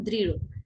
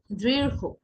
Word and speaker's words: দৃঢ়: যেমন প্রথমেই রয়েছে দৃঢ়, আমরা অনেকে একে উচ্চারণ করতাম দৃঢ়, দৃঢ় নয়, এর সঠিক উচ্চারণটি হবে দৃঢ়, দৃঢ়, দৃঢ়। ঠিক আছে, দৃঢ়, দৃঢ়, দৃঢ়, অর্থাৎ একটু হো এর মতো, একটু ও এর মতো করে উচ্চারিত হবে।